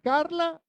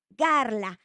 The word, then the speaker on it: Garla: si el nombre es Carla o garla Mi nombre es garla y se escribe con g de gato garla es el nombre